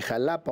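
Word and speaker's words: Xalapa: Sí, fíjate, el Museo de Antropología de Jalapa, o Max, porque la Jalapa allí se escribe con X, el famoso Max es pues uno de los grandes museos arqueológicos del país.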